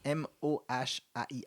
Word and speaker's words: mohair: Du mohair, je sais pas comment le prononcer, mais M-O-H-A-I-R.